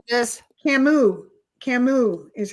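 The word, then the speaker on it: Camus: She says um Albert um Camas or Camas, I don't know how to say it, was a French philosopher. He she considers most of his work to be existential. Who said this? Camu. Camu is how you pronounce it.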